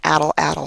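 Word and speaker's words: atlatl: supposed to be pronounced Atla-Tol, something like that. But I'm from Texas, and I'm going to call it ATL-ATL, like battle, battle, but without the B sound.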